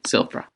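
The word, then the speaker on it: Sylfira: they have scriedus perhaps silver silver yeah i'll spell it out for you it's s-y-l-f-i-r-a f-i-r-a i-r so silvra okay then vera says why don't i just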